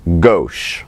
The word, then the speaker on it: gauche: This has its own name as well, while it is spelled G-A-U-C-H, it is pronounced gauche.